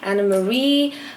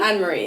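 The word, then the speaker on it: Anne-Marie: like Jorja Smith, IMDb, Ray Black, Lady Lushur, Anna Marie. Do I pronounce that correctly? Yeah. It's Anne Marie? Anne Marie, yeah.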